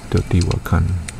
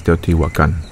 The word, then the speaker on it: Teotihuacan: Yeah, because apparently, for instance, in Mexica or Nahuatl, you emphasize the third syllable, I believe, or the syllable before the end or something like that. So Teotihuacan. I know it as Teotihuacan, you know?